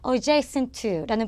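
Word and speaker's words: adjacent to: 경우는요 아이가 있겠죠 자 우리 얘 어떻게 읽으셔야 되냐면 adj 2라고 읽으셔야 됩니다 다시 한번 뭐라고 읽는 더라고요 adjacent 2라는 발음 기억하고요 또 뭐 여기에 바로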